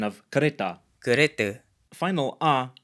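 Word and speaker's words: kereta: Malay pronunciation of caretta caretta final aa is usually pronounced as a schwa in Malay at least in Malaysia a couple more examples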